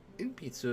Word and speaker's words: 鉛筆: 鉛筆 Inpitsu. Huh. Inpitsu. Inpitsu is Japanese for pencil. Huh. Neat. 鉛筆 Inpitsu is a mouthful, so listen to the pronunciation a few times and practice saying it slowly.